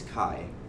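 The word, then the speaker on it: χ: the director it gets KY is the pronunciation of that X character where KY is a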